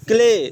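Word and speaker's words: clay: वाई क्या हो गया, क्ले, स्ले नहीं, ध्यान दो, सी के बाद अगर एल होता है तो सी का उच्चारण क होता है, क्या होता है, क। सी के बाद अगर एल होता है तो सी का उच्चारण क्या होता है, क, याद रखना इसको।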